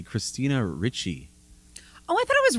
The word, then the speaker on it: Ricci: Christina Ricci. Oh, I thought it was Ricci.